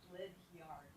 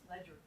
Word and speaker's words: Ledyard: I live in Connecticut, and there's a town nearby, Ledyard, Ledyard, and it's pronounced Ledger.